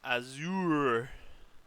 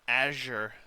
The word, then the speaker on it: Azure: This one is an Azour. Oh, an Azour, which is the two seat convertible Arnage. Yeah. Or an Azure as I would pronounce it, but all the YouTubers always call it.